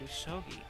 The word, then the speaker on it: Usogui: Yeah, that's what I've heard, Usogui. But it doesn't look like it's spelled that way. You're saying it correctly.